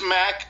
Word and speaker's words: Mac: It's Mac, M-A-C, Mac, like Mac truck.